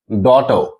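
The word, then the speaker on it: daughter: Means I vowel है और उसके बाद जीएच आ रहा है तो इसे साइलेंट होगा। इसी तरह से हम लोग देखेंगे फ्लाइट, डॉटर।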